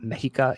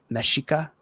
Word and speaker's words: Mexica: So, one thing you just got to know is the X in the language makes the she sound. So it's not like for here, it's not Mexica, it's Mexica.